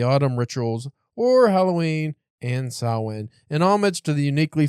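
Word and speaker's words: Samhain: this list people need to learn how to pronounce Sinn yeah cuz it's Irish Halloween it's like the origin or whatever but it's spelled s a m h a i n but people always say sam Hayne Sin Sin next up on this wonderful list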